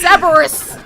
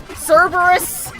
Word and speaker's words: Cerberus: I said Cerberus. Cerberus. Yeah, I guess it's Cerberus. There is that other R.